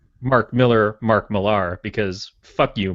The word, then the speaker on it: Millar: Is it Mark Miller? Yeah, it's Mark Miller. It's not Millar. It's not like a balloon.